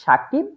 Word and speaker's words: শাকিব: দ্বারা হয় দুইজনই শাকিব কিন্তু একজনের নামটা উচ্চারণ করা হয় শাকিব আরেকজনেরটা সাকিব এটার কারণ কি এটার